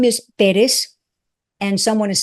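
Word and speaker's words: Pérez: It's Perez, not Perez.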